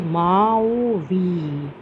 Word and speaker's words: Maui: So star means you can see to how to pronounce this word, pronounced as Maui. So that is why it is starred here. So this story is about Maui, who wanted to tame the wind.